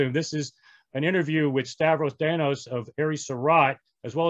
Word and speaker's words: Stavros Danos: um extremely fortunate to work with aries surat stavros thanos am i pronouncing your name correctly yes uh that's actually